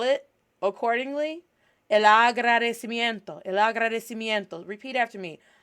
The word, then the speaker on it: agradecimiento: Agradecimiento. Agradecimiento. Agradecimiento. Agradecimiento. En español se escribe, in Spanish, this is how we pronounce or spell out this word, Agradecimiento.